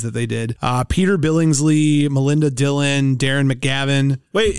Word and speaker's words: Billingsley: Ralphie that Peter Billingsley Billingsley is how you say it bigsley no it's just Billingsley Billingsley didn't have a